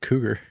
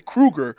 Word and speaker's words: Krueger: You said Cougar. Cougar? Like John Cougar Mellencamp? Freddy Cougar? Cougar. Freddy Krueger.